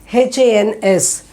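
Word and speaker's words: हंस: see here this is h a n s huns huns you'll know exactly where to pronounce this hans the sound will come through the nose and the mouth so this is a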